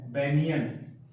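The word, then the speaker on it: banian: हीरोग्लाइफस, हेरोग्लाइफस, और जाति है बेनियन, या बुक में लिखा होगा बेनियान। ठीक है, इसको उच्चारण बनियन होता है, बेनियन।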